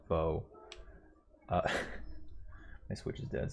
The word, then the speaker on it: Bo: favorites and then um i keep pronouncing his name as bao but i know it's bo uh my switch is